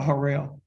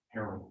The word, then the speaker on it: Harold: Do you pronounce Harold or Harrell? Harold. Harold.